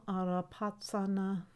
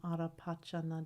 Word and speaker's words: Arapachana: Om Arapatsana Di. Om Arapatsana Di. Om Arapatsana Di. Om Arapatsana Di. Om Arapachana Di. Sanskrit pronunciation is Pachana, and the Tibetan say patsana. Tsa. Either way is good.